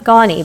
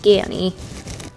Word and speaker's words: Ganni: skirt from gany I always thought it was gannie but I looked it up and it's pronounced gany so I love selling this brand it usually